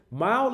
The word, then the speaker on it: MYLE: it okay we the mile is actually pronounced like driving a mile but it's spelled with a y instead of an i because it's all about